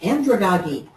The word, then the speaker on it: andragogy: First, I'm going to talk a little bit about andragogy. And I wouldn't have pronounced it that way either, but I looked it up and that's what they said.